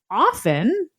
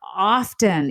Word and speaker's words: often: But let me just say that most people today would say you pronounced the word often as often. Right. Not often, even though historically the T was there and prior to the